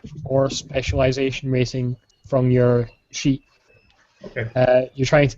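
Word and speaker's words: し: it's counted as zero because in Japanese uh she means death you know it's pronounced the same way as death so they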